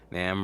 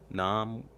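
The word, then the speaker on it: NAMM: an in-person one so nam rhymes with ham nom so it's namra okay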